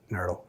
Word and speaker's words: NRTL: So OSHA regulates who's a NERDL or not, because you got to pronounce it NERDL. That's how you know what you're talking about. So NRTLs, you need to, there's a definite list, OSHA maintains that.